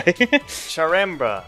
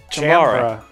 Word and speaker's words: Chambara: Charamba. No. Say it. Chambara. Chambara. You keep doing Charamba.